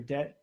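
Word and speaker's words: Dette: I think it's pronounced his name Deddy or Det.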